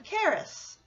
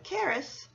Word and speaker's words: Caris: It works well because Caris has a rhythm similar to standard middle name Marie. Both names have 2 syllables with a stress on the second syllable.